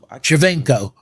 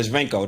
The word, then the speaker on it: Shevchenko: Shevchenko. Yeah, Shevchenko.